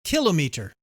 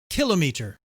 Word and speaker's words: kilometer: kilometer and other times kilometer. Like many words in our wonderful and colorful English language, both pronunciations are widely used. Generally, the British say kilometer, which resembles the French kilomètre. Americans usually prefer kilometer.